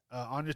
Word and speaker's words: Anya: Anna Taylor-Joy. No, it's Anya. That's how they spelled it on They IMDb. put the Enye on there. A-N-Y-A. A-N-Y-A. All right. The Y is silent.